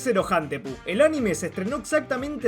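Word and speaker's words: セロハンテープ: un juego de palabras con la pronunciación japonesa de cinta de celofán, la cual es Zerohantepu.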